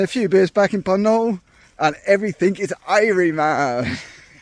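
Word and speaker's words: Puncknowle: We're staying in a place called Punk uh Panol. Sorry, don't pronounce the K apparently. Panol.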